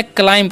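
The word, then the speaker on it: climb: बी जो है यहां पर साइलेंट होता है। इस बात का आपको ध्यान रखना है। क्या पढ़ना है? क्लाइम पढ़ना है। ओके? बी साइलेंस होता है।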